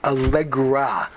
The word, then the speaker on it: Allegra: mispronounced their name uh it's Allegra not Alle R and um I'll give